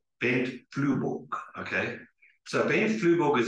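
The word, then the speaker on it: Flyvbjerg: So I'll start with the incorrect pronunciation, Bent Fleifberg. But I understand that in Danish you say Bent Flueborg, okay?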